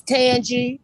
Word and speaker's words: Tanji: ridge apartments afternoon again is it pronounced tanji ma'am please unmute yourself and state your name it's tangy angie hello miss